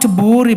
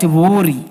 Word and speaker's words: Vihiga: Not Vihiga, but Vihiga.